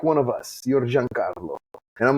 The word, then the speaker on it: Giancarlo: It was the first time I had heard my name being pronounced properly. That's awesome. And they were like, Giancarlo, are you Italian?